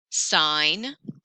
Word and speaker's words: sign: gh doing there eight sign oh another silent letter in the middle of a word so if you think